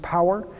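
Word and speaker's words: PAWR: it's the platform for van violence research we're pronounced power and it's a hundred million dollar program that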